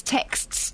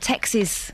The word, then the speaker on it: texts: Text plural te is texts, not Texas. Texas.